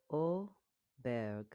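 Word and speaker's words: Åberg: Do you notice there is no bear? There's no bear in this one.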